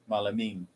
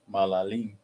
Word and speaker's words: malalim: Malaming. No. Malaming. No. Malaming. No. Malalim. Oh yeah, malalim. It means deep.